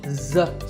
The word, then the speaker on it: dessert: work this is dessert notice that the first syllable is dipped and the second it starts with a dessert sound we stress the second syllable dessert this word